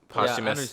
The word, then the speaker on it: posthumous: How you pronounce it? Posthumous. Yeah, Posthumous.